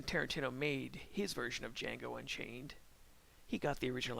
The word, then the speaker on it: Django: he says to him the d is silent and it's uh it's